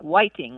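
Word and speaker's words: 화이팅: it might be like fighting or fighting like that yes and sometimes it sounds like Whiting like uh with a W almost yeah yeah yeah the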